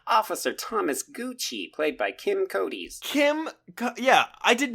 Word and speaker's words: Kim Coates: And I definitely said that name wrong. It's Kim Coates.